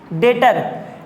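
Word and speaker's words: debtor: Next, डेटर। डेप्टर भी डेप्टर लिखा हुआ है लेकिन पढ़ते हम लोग इसको क्या है, डेटर पढ़ते हैं, बीच क्या है, साइलेंट है।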